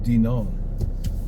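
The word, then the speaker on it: Dinan: back to Denon France d i n n pronounced Denon in Britney so I don't want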